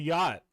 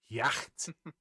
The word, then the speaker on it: yacht: on the yacht. Yay. Oh, shit, that's I not- cannot pronounce that the English way, therefore I'm calling it the boat. Yacht. Yacht. Perfect, Nick. Perfect. It's a yacht. It's Y-O-T.